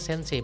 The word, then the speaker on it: sensei: Jadi sensei itu kalau dua kanji digabungin jadinya dibaca sensei bacanya. Tapi kalau dipisah, sen itu bisa jadi saki, sei itu bisa jadi ikiru gitu ya.